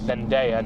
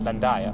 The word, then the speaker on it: Zendaya: It's Zendaya, not Zendaya. So, whoops.